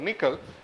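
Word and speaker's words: N1QL: mentioned so we have something called nickel that is pronounced N 1 Q R so that is like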